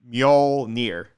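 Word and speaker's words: Mjölnir: Mjolnir. Mjolnir? Mjolnir. I'll never get it. I don't. Yeah. It's like M and then Yol, like Yol, except for like Yol, except without the U.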